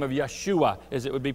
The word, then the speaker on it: Yeshua: you a little history about this name of Yeshua as it would be pronounced in in the Hebrew language sometimes in